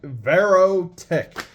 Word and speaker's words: Verotik: Verotik. I said it right. Verotik.